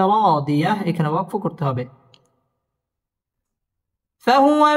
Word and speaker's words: فهو: فهو في عيشة راضية ফাহুয়া ওয়াও ঠোঁট গোল করে উচ্চারণ করতে হবে ফাহুয়া ফি জেরের বাম